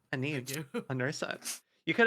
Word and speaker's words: Aeneid: I was like, I wonder what Enid stands for. I had a feeling with It's actually Virgil. pronounced Aeneid. Thank you, Em. Aeneid. Aeneid.